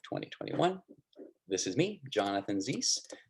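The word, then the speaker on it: Ziese: This is me, Jonathan Zeiss. Last name, it's Z-I-E-S-E. It rhymes with peace.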